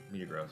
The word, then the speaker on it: Metagross: Same as you pronounce Facebook's new name, Meta. Meta Gross. It's not gross though. It's Meta Gross.